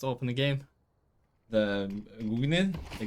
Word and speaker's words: Gungnir: The Gungnir? The Gungnir. Gungnir. You gotta pronounce it like you think you're Icelandic or something.